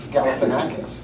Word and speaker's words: Galifianakis: Zach Galifianakis. Galifianakis. Yeah, Yeah. I left a syllable or two out of that.